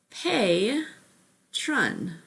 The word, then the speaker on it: patron: there's a word called patron pay tron so pay would be an open syllable so i circled the pa okay anytime there's an open syllable remember that vowel makes its long sound right so patreon okay